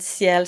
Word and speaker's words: ciel: So, the singular one, ciel, is just like ringing a bell at the end, ciel, and you have to flip that l, it's voiced.